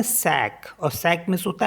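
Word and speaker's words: sac: with next word है जैसे एस ए सी इसको पढ़ते हैं सैक और सैक मींस होता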